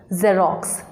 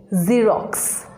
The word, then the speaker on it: Xerox: look at our first company how will you pronounce this this word is not xerox this word is xerox american company photocopy machine do you know the